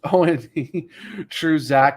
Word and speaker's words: One True Zach: It's not the number one is actually spelled out like the one, like I like the Oneaters or the Wonders, but not pronounced correctly. It's just One True Zach.